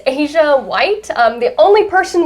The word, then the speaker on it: Azsha: you on social and stuff yeah so it's asia white um the only person with my name